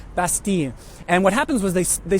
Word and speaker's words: Bastille: People still call it the Bastille. They pronounce the L. Obviously, that's wrong. I try to use the local pronunciation, Bastille.